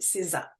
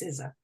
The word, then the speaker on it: SZA: So I think her name is pronounced SZA. Her name is spelled SZA.